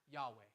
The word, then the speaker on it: Yahweh: Long story short, we started pronouncing that Yahweh. We don't know if that's how Moses pronounced it, but the closest scholars have gotten, we feel pretty good about it.